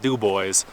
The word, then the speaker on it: Dubois: i'm gonna go into dubois and get gas it's spelled dubois but you know around here we call it do boys there's one in idaho too and people say it the same way dubois so anyway i'm gonna